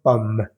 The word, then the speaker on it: pomme: Justo después de pronunciar la M suena o sale un pequeño aire que da la impresión de que estoy pronunciando la E, pero no es pomme, sino pomme.